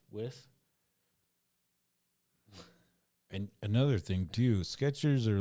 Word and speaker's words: Skechers: Skechers. There's no T. Skeechers? That's most people have been befuddled to see that there's no T in Skechers.